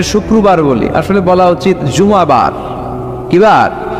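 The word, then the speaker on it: جمعة: আসলে বলা উচিত জুমাবার। কিবার? জুমাবার। সূরাটার নাম হচ্ছে সূরাতুল জুম। আমার সাথে সাথে বলেন সূরাতুল জুম। সবাই বলেন সূরাতুল। জুমা। অনেকে বলে ফেলে জুমা। জুমা। আসলে আরবিতে শুদ্ধ উচ্চারণটা হচ্ছে জুমু।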